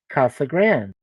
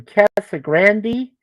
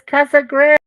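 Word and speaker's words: Casa Grande: d and it's pronounced Casa Grand well somebody said hey I have friends in cassa Grandy I was like what it's Casa Grand it's pronounced that way it's Spanish it's not like you're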